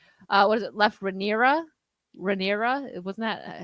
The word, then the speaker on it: Rhaenyra: Rhaenyra, that's it. See, D-Day knows how to do the pronunciations for me. Thank you. Rhaenyra.